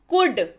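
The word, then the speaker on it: could: का उच्चारण कैसे करें ल को बोलिए चुप रहो और उसका उच्चारण मत करिए तो चलिए आज आपकी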